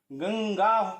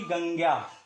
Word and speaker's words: गंगा: अब यहां पर जान लीजिए कि इसका उच्चारण अनुस्वार की तरह ना होकर के पंचमाक्षर की तरह होगा, अर्थात इसका उच्चारण गंगा होगा, ना कि गंग्या।